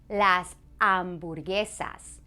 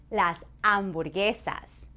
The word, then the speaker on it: las hamburguesas: Here's another word that you may recognize, and that is las hamburguesas. Las hamburguesas. You try. That's right. Remember that H is silent.